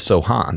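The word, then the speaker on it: Sochan: was mentioned Jeremy have we decided if it's Sohan or Sohan because he pronounces it both ways as well I had heard um when we were in Minnesota that they'll land for under the podcast yes there is a on the Spurs um notes okay notes that often have pronunciation guides for like opposing announcers it says Sohan so when you go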